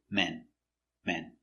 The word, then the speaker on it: men: closer at the pronunciation pronunciation one man m a ma m man open sound man one man two M it's closed more closed and it's short so again one man to men men let's practice is the